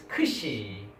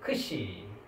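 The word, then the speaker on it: ξ: And then this one we call the name of the alphabet is Kshi. The pronunciation is KS, right? Ks. KS sound.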